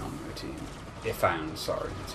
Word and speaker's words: Ifan: Which you can get if you have Ifan on your team. Ifan, sorry, that's how his name is pronounced. It's dumb. Which one's Ifan?